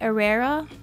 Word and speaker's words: Herrera: we have been Marc Herrera right because you don't pronounce the H it at a rata